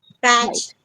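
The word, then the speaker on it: patch: तो इस केस में हमारे पास टी साइलेंट है यहाँ पर, तो कभी भी एंडिंग में TCH आए तो उसमें टी साइलेंट होता है, okay. पैच, कैच, yes, wait अ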